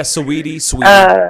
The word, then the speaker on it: Saweetie: Yeah, Saweetie.